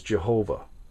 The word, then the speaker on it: Jehovah: This is the word in Hebrew that you would know as Jehovah, or Yahweh is another way that it's pronounced.